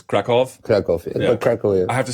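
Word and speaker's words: Kraków: Berlin - is it I pronounced it Cracow but it's Krakoff Kolya I have to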